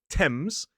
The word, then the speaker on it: Thames: Well, sometimes in certain names, like places or people, that th is simply pronounced as a sound, the same sound we see in a word like talk. So, for example, in the river Thames, the country Thailand, or the name Thomas.